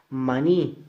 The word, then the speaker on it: maní: Maní, mayor fuerza de voz y termina en I, se tilda.